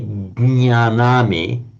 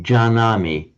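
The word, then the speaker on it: जानामि: So, you don't say gnyanami, you say janami.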